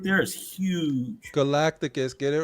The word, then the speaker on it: Galacticus: was yeah it was fairly PR that custom galatis right there is huge Galacticus get it right Galacticus know I've been I've